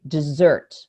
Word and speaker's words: dessert: arm on the vowel so i say dessert and that makes me stretch out the time i spend on the vowel of that stressed syllable because in english it